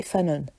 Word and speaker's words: fanon: Le canon, il va s'opposer au headcanon, aussi appelé fano, que je prononce à la française, mais en vrai c'est plus canon, headcanon et fanon.